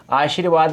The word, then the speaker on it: आशीर्वाद: तो जिस वर्ण के ऊपर लगा हुआ है उस वर्ण से पहले इसका उच्चारण होता है। किसका, ऊपर लगने वाले रै का उच्चारण होता है।